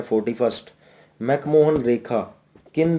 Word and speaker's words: McMahon: तो चाइना और अरुणाचल प्रदेश के बीच में एक लाइन है, जैसे कहा जाता है मैकमोहन line. Actually this is the spelling of मैकमोहन इज MCMAHON, Henry मैकमोहन।